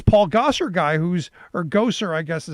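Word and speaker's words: Gosar: well from alabama um gozer is how i've been told his name is pronounced as if he is that uh creepy dude in uh in the ghostbusters movie spelled differently pronounced the same um and what i've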